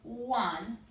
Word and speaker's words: Juan: Let's take look at the name Juan. There's 2 vowels, but only 1 sound. Juan.